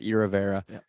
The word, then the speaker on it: Iravera: or irrevera it almost sounds like aloe vera you know yeah well